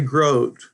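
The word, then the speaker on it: Grote: let me say that I've heard his name pronounced groy also but I always heard it was Gro so that's where I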